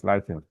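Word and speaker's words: lichen: We have another example like if you like you say ding but the proper the proper pronunciation is lyken.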